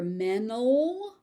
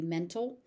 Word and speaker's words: mental: So you may also hear mental, where the T is dropped completely. The T is very light. Sometimes it's so light that it stops existing. So it could be mental, it could be mental, depending on the speaker.